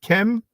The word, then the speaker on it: Kem: I6 glyph, that is transliterated with the letter K and the letter M, hence we pronounce it Kem, hence why we pronounce it Kem, that it doesn't stand for the color black.